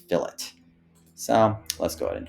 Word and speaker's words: fillet: you want to do that and it is pronounced fillet believe it or not I know the lean